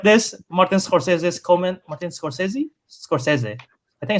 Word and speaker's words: Scorsese: Martin Scorsese. I think it's Scorsese. Martin Scorch. I never Yes, know how to yes.